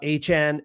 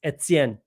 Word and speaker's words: Etienne: Travis Etienne does not even say his own name properly. It's not Etienne, it's Etienne.